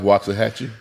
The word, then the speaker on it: Waxahachie: Because that last time I pronounced it wrong. Life Waxahachie.